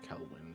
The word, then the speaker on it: Kelwin: Shamira Kelwin. Kelwin. K-E-L-W-I-N-D. Like Keenan and Kel, Breeze.